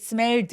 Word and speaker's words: smelled: 근데 여러분 여기서 it smelled fine 이렇게 드까지 소리 내지 마시고요. It smelled 디귿 받침 정도가 가볍게 있다고 생각하시면 돼요.